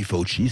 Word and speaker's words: Fauci: Anthony Fauci, ça s'écrit F-A-U-S-C-I, mais en origine italienne.